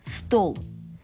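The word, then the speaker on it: стол: Mais ici, c'est la table. Stol. Il faut donc mettre un L À la fin, qui s'écrit comme chez nous.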